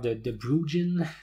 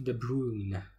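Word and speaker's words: de Bruijn: Où j'ai vu toutes sortes de prononciations de ça. Des graphes de Bruggen, des graphes de Bruggen. Bon, je crois que la bonne prononciation, c'est de prendre le J muet et dire graphe de Bruyne.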